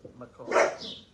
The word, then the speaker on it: McCall: And by the way, their name is pronounced as it is spelled, McCall.